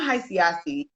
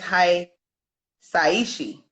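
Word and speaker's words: Hisaishi: It's not Hiasi. I think it's Hi Saiishi.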